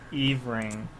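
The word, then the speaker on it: every♡ing!: Yeah, you drop the heart and pronounce it kind of one-wordy. So it's every and then a heart symbol, ing exclamation mark. Yeah. But because of that, it's pronounced Eve Ring. Yeah, it's a combination of the two girls' names.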